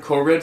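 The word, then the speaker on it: choroid: world their eyes also have a very well pronounced chid choid cored c h o r o i d three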